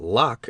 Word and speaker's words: Locke: I read Hume and Locke, and partly understood them, I think, though I did not know that Locke is pronounced in only one syllable till many years after I read and reread parts of the human understanding.